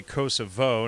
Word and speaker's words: Kosovo: doing in Kosovo and I say Kosovo no not you know I do not honor the Albanian pronunciation of Kosovo but it's you know